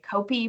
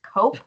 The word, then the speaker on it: CoPE: as the coastline so it is pronounced cope but because the p is capitalized sometimes people say copy but it's not it's cope because people have to